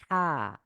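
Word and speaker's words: ح: তো হাকে কণ্ঠের মাঝখান থেকে কণ্ঠে চাপ দিয়ে এভাবে আমরা উচ্চারণ করব।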